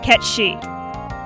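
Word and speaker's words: Cait Sith: I promise you, it's Irish, and I promise you it is pronounced Ketchi.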